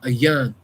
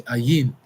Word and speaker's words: Ayin: This is the letter Ayan. Some say Ayin, but the letter is called Ayan.